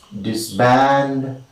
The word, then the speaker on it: disband: rule of word stress words of two syllables or d syllabic words take the primary word stress on the second if they begin with the prefix disks so in all this